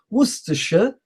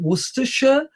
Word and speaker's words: Worcestershire: Worcestershire sauce.